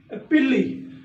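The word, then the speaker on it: pili: पिलाई बच्चों, इसकी प्रोनाउंसिएशन थोड़ी सी गूगल पे और है, मेरियम वेबसाइट पे और है, और तीसरा सोर्स मैंने देखा था उस पे और है। Majority of the members these discuss it's पिल्ली।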